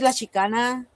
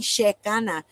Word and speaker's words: La Shekanna: Uh, some people that uh, like the people from Mexico, they call me sheana because think about it. There's no double e sound in Mexico.